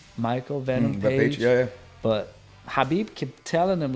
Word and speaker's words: Khabib: It's Habib.